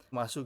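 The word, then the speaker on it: ます: Karena bentuk positifnya dari mereka adalah masu gitu kan. Nah, bihiragana masu gitu meskipun bacanya mas ya.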